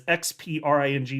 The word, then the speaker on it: Xpring: which is written as XPRING, which is, I'm sorry, I love you, Ripple, but that's stupid. Everybody's like, is it Xpring? How do you pronounce it? It's Spring, though.